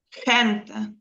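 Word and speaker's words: gente: Остання буква в нас яка? Остання е голосна. голосна тоді наперед тоді на на передостанній. Угу. Значить, хенте.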